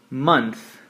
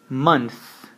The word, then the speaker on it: month: the next item is month months months make sure you check the pronunciation of this remember it's you put your tongue between your teeth and remember that a